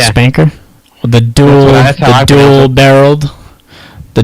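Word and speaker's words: SPNKr: uh the original rockets the spanker is that how you say it the espn kr rocket launcher yeah spanker the dual dual barreled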